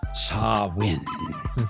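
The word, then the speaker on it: Samhain: Scottish galic Pagan festival called Sam hay pronounced sarwin which was then appropriated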